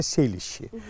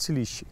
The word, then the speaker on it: Селище: да и местечко называется я не знаю как правильно ударение ставится 7 ища или силищу вообще как бы правильно селище но вы сам говорят силищи я жил сразу вот